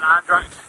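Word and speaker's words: Andratx: week so we got another we go down andrax I that's how you say it and then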